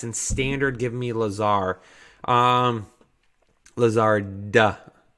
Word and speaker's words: Lazard: Lazard, duh. There's a D there. I don't think I pronounced it or enunciated it.